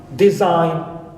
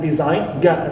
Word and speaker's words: design: example have sound here the G is omitted like in sign design clear sign and design and followed by that's